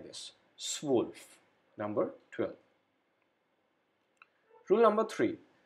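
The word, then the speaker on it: zwölf: is has a pronunciation of ao so we pronounce it like this swolf number 12.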